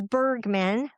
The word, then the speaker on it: Bergman: Uh my last name is Bergman, like iceberg, b e r g, and then you add a man to it, m a n.